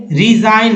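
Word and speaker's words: resign: Next है मालिन, मालाइन, मालाइन, इसमें जी का उच्चारण नहीं हुआ यानी दुष्ट, मालाइन। फिर रिजाइन, रिजाइन में जी को नहीं पढ़ना है, यानी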